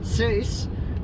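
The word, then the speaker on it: Seiss: But also in the cast is one of our favorite TikTokers, Scott Sace, or however, Cease? I think it's pronounced Cease, but he's one of our favorite people on TikTok.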